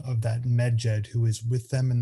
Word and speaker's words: Medjed: name of our creature, who we conventionally pronounce Medjed, because the Egyptian language only recorded consonants and not vowels. And so to be able to pronounce these three consonants together, Medjed, we must add something in between, and we conventionally add a vowel Eve.